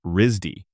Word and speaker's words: RISD: He went to the Rhode Island School of Design, a place known locally as Risdy, which gets pronounced like Risy.